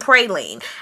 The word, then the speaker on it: praline: Jason D, guys, says, how do you pronounce hummus and praline? I say it hummus and praline, but a lot of people say hummus and praline.